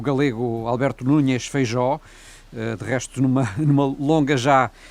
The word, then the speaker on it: Feijóo: Vou pronunciar o seu nome em espanhol, Feijóo. Alberto Núñez Feijóo. Sendo galego, acho que merece não, ser em galego seria Feijóo, mas o seu apelido está com J, portanto é Feijóo em espanhol.